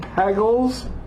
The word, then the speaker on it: Pagels: is Gnostic Gospels Elaine Pagels it says hegel hegel Gooden Bay glozell good bagels cuz it rhymes with bagels you know and you